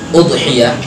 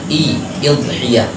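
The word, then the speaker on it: أضحية: Udhiyah boleh bacanya udhiyah, boleh juga idhiyah, boleh boleh udhiyah dan idhiyah.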